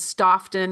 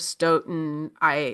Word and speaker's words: Stoughton: I said Stoughton instead of Stoughton.